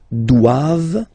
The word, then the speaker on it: doivent: All right, and then the last one, ils doivent. So same thing, classic ending for the plural form, E-N-T here, okay, but then you don't pronounce it.